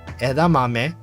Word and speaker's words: edamame: someone that has zero exposure to Japanese would pronounce these things. So we got edamame, pirikarai edamame, misoshiru, ika no karikari age, shiso togarashi, age watarigani fried.